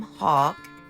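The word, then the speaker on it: Haugh: That's kind of weird, but it is pronounced Hawk.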